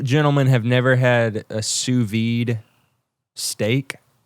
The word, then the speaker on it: sous-vide: have never had a sous-vide steak oh is that how you say that yeah out of a sow's VA no no I it's French it's a French I never had that